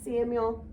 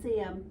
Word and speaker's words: Samuel: On Thursday, I say the frog's name wrong. It's Samuel. I tried to get away with Sam, but it didn't work.